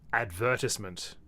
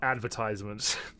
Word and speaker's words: advertisement: was trying to oh technically the correct way to pronounce this word in Australia is advertisement not advertisement I would take advertisement over